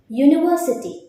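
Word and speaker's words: university: யூனிவர்சிட்டி யூனிவர்சிட்டி vowel சவுண்டில் start ஆகாது, consonant சவுண்டில் start ஆகும். YU அப்படிங்கிற சவுண்டில் தான் ஸ்டார்ட் ஆகும்.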